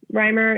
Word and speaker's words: Rymer: Rymer is spelled R-Y-M-E-R.